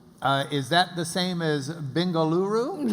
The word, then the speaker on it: Bengaluru: Is that the same as Bengaluru?